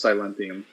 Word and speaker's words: Silentium: was correct T also you're pronouncing it wrong it's silentium you